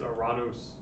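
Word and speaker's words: Ουρανός: we're going to say the greek pronunciation of this planet is a rados where is it ah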